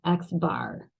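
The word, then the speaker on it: x̄: this symbol here and we pronounce that X bar so one of the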